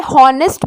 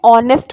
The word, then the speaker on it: honest: Mention कर दूँ कि बहुत लोग जो है हॉनेस्ट बोलते हैं. ठीक है, तो इसका प्रोनाउंसिएशन हॉनेस्ट नहीं होता है, ऑनेस्ट होता है. ठीक है, यहाँ पे एच जो है ये साइलेंट होता है.